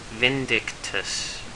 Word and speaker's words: Vindictus: here and i'm going to show you guys vindictus this is how you say it um it's